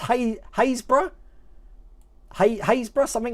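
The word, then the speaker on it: Happisburgh: bit further south than that there we go happy spur there happiest bird that's actually pronounced hey haysbruh hey hayes bruh something like that it is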